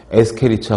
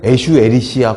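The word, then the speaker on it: Escherichia: 이콜라이, 에스케리치아 콜라이. 책에는 에슈에리시아 콜라이 이렇게 써있기도 하는데 아무튼 콜리라고 읽어도 상관없고 아무튼 콜리폼은 대장균입니다.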